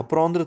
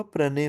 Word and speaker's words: prenons: प्रौंद्र था, प्रो, je prends, tu prends, il elle on prend, फिर नु प्रोनो हो जाएगा, प्रोदो नहीं होगा, प्रोनो होगा। प्रोनो, सिमिलरली प्रोंदे नहीं होगा, प्रने होगा।